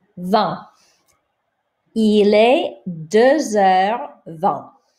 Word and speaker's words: vingt: Don't pronounce this T. Vingt.